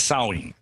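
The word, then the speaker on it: Samhain: know the real name i think was called saw ween is that the correct other correct pronunciation yeah in the celtic british isles yeah sewing it spelled samh a IM but when you say it as sewing and yeah that's the that's the ancient ancestor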